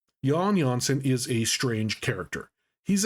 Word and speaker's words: Jan Jansen: for my first video, Jan Jansen. Yes, that's how you pronounce his name. Those J's are pronounced with the ya sound. Jan Jansen is a strange character.